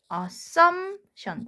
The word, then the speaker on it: assumption: assumption. P가 소리가 안 납니다. 묵음이라 부르죠.